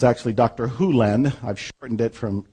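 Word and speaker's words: Hew Len: Hu Len, I've shortened it from E to Dr. Len, but it's actually Dr. Hu Len, if you want to say his name correctly.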